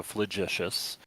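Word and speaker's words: flagitious: So, the G is sounded is uh pronounced like a J. So, fleicious uh shamefully wicked as person's actions or times heinous or flagrant as a crime.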